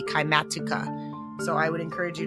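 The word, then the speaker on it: Kymatica: It is spelled K Y M A T I C A. Kimatuka.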